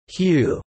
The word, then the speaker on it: HU: In Ekankar, one of the basic forms of prayer includes singing the word Hu, which is pronounced as Hu, a holy name of God.